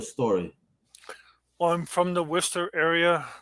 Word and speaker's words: Worcester: Definitely doesn't sound like it's written. But absolutely. Yeah, my story starts out with my father being an entrepreneur, multiple nursing homes, land everywhere in the Worcester area.